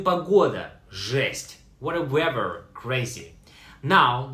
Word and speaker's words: жесть: Pronounced like жесть.